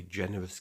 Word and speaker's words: generous: Generous, it's a soft G because of the E.